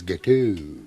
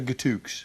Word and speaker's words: gâteau: idiot or anything, but I think you'll find it's gâteau. Gâteau? Yeah. Oh, I see, right. Yeah, the X is silent. I thought with your French-Canadian connection you would have known that. Gâteau. So it's gâteau as opposed to gatooks?